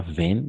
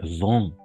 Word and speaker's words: vent: Il y a du vent, pas vent, vent.